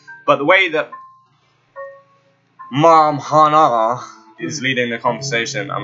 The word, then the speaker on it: Hannah: She said you can call me Hana. Hana. It's spelled Hannah. Hana. She said Hana.